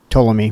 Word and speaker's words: Ptolemy: you say that Dallas Ptolemy told me I know the P was silent like Saki and uh so was